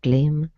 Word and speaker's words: climb: Instead of climb, okay, it's an I sound.